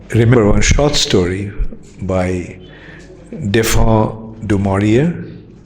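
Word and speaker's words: Daphne du Maurier: one short story by defon dearia how many of you know of her an English author in England they pronounce as defne de maror anyway so she something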